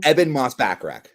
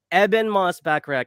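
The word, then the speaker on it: Ebon Moss-Bachrach: Eben Moss-Backrack. Eben Moss-Backrack is the thing, and he's shout out amazing in the bear.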